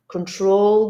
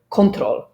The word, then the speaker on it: control: Many people that I know, many students that I know would say control. So stress the first syllable. Control. Well, no, it's control. And the stress is actually on the second syllable, so in this case on the troll.